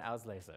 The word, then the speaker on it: Auslese: Truck and beer and Auslese. Oh. If you would like the pronunciation.